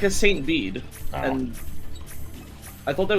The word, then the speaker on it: Bede: You used to say it like Beady. You pronounce it Bede. Bacarina, you're British! You should know it's Bede!